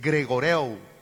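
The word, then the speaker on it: γρηγορεύω: Es como cuando usted menciona el nombre Gregorio, o sea, es gregoreu.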